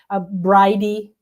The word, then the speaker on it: Brigid: at the goddess house, they say Bridey for the same. It It's got a lot of pronunciations. A lot of pronunciations. Yeah, I tend to say Brigid, too. And then somebody kept correcting me that it was breed and I'm like okay maybe I'm wrong whatever.